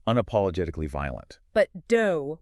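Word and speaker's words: 道: But do, which is the Japanese pronunciation of the Chinese character Dao, means something completely different.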